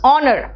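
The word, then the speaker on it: honour: गलत कर देते हैं इसलिए कई लोग कह देते हैं हनर what is Hunar it इज not Hunar it इज ऑनर तो ऑनर में एच क्या है साइलेंट है अब आओ नेक्स्ट एल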